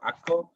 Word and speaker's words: Akko: people pronounce it and akko is the way that uh jewish people pronounce it um so basically this